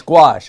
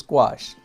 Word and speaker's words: gouache: No, it's gouache. I promise, it's gouache.